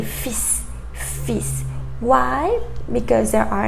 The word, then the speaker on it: fils: So, for example, bus, bus, fils, fils. In that final one, you have an L, but we don't pronounce it. We don't say fils, we say fils, fils.